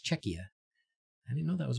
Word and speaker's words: Czechia: to say it right because that's like check like Czech Republic but it's Czechia I didn't know that